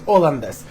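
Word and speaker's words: hollandaise: лендес це голландський соус тому що французькій мові перша буква аж не читається це може виходить оландес тому сьогодні я готую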